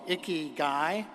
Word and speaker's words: Ikigai: have a philosophy called Ikigai. And Ikigai is not spelled I-C-K-E-Y, one word, G-U-I, the second word. It's spelled I-K-I-G-A-I.